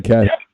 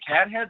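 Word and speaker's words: Cathead: but it's okay um you keep mispronouncing caddy uh they don't have any cat head there i've only tried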